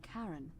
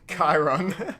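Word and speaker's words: Charon: It's just as you described it, only your pronunciation is a little off. The name you heard wasn't Karen. It was C H. Chiron.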